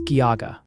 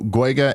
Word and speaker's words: Geauga: They're saying Solon is pronounced Solin, and Geauga is Geauga. All right, so Guega and Salone.